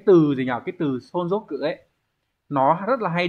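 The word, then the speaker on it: 存続: Số 1 này, từ này sẽ đọc là sonzoku.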